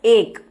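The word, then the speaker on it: एक: So this is pronounced as ek, and in Hindi you might see like this written.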